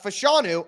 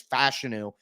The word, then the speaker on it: Fashanu: talked about Olu uh fashanu I called him um fashanu for so long um so fashanu or I called him fashanu for so long now he's saying it's fashion which is the correct pronunciation so I'm working through